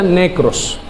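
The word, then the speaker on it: νεκρός: hablar de Muertos es una palabra que literalmente se pronuncia necros de ahí viene la la famosa palabra necrosis usted sabe cuando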